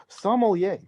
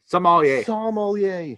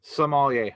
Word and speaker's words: sommelier: sommelier uh rant go for it it is pronounced sommelier the commentators are repetitively saying the sommelier as in i don't know like a french person from somalia what it's sommelier somalia sommelier okay i'm getting a pronunciation oh man that